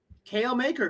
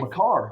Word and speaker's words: Makar: How about Kale Maker cards? He's gonna win. He's gonna win the Conn Smythe. Makar. You gotta pronounce it right.